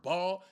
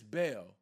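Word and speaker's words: Baal: Even that, oh, I don't serve ball. Y'all not even saying it right. It's Bale.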